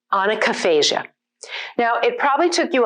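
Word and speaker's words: onychophagia: So this word is pronounced onychophasia.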